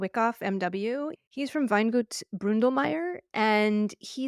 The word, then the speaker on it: Weingut: I was in Austria, I did learn that it's pronounced Weingut, which I just love. I just love how that sounds.